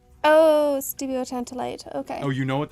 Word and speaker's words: stibiotantalite: Stibuloantalite. Oh, stibiotantalite.